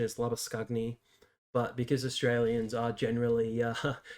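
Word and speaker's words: Labuschagne: comes in and i know lots of people pronounce that labyshane but i think the proper afrikaans pronunciation is lava scugny but because australians are generally not very uh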